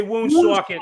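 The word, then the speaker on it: Woonsocket: gotta say it right you gotta say wound socket like you're from there I actually stumbled upon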